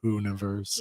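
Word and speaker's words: Poohniverse: The Poonaverse. The Poonaverse. I can't help but think of like a like the poo emoji every time I hear that. Yeah. I know it's spelled like the bear, but it's just yeah.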